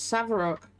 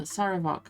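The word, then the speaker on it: Sarevok: No, it's Savarok. Oh no, rather, Saravok. Sorry, I always say his name wrong.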